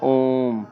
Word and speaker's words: ओम: ऐ ओ औ ठीक अब प्लुत स्वर इसमें उच्चारण की तीन मात्रा का समय लगता है। ध्यान रखिए जैसे हम बोलते हैं ओम।